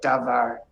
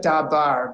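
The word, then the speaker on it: דבר: yes yeah okay right davar it looks like dabar because of the way they are trans literating but we know this is a vet and it's so we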